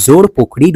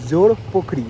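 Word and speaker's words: জোরপোখরি: এখন আমরা এগিয়ে চললাম জোরপখরির উদ্দেশ্যে এখন আমরা এসেছি আমাদের তিন নম্বর ডেস্টিনেশন জোর পোখরি যেটাকে বলে জোরপখরি বা জোর পোখরি যেটা ওরা উচ্চারণ করে আর এখানে কিন্তু টিকিট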